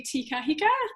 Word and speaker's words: Te Kahika: Well, hello, Billy TK or Billy Te Kahika.